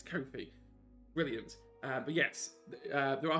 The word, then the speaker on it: Kofi: It's Kofi because my partner did have an interview with him. There we I go. was like, how do you say it? I need to know how to say it first.